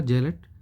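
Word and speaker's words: zealot: ये जेलट, इसका प्रोनाउंसिएशन होगा जेलट, अति उत्साही।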